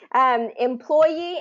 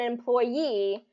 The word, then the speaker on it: employee: And so when there are 2 versions of it, it means that both are okay. Employee and employee, both are considered standard.